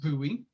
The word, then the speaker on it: Bowie: louisiana his name was bowie it is a french name and is pronounced buoy afterwards he went to